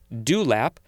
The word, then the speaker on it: dewlap: It's like the morning dew on the fresh-cut grass in the morning. And then the word lap, L-A-P.